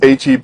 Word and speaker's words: H-E-B: all know it looks like Whataburger but it's pronounced Whataburger hey it's also it's not Heap it's HEB and if you're not super loyal and obsessed